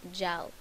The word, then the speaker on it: gel: follows the letter G since it is an e the G will say the soft G sound the sound says J the word is jel model how to put